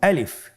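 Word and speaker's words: ألف: আমাদেরকে বলতে হবে বলুন আলিফ আলিফে কিন্তু কোন টান নেই আপনারা বুঝতে পারতেছেন আমি যখন আলিফ বলছি এর মধ্যে কোন টান হবে না।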